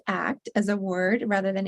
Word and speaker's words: ACT: when we work with medical patients and it's pronounced act as a word rather than act and there's a lot of research support showing